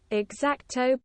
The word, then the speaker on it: X-Acto: How do I actually pronounce that? Xacto blade.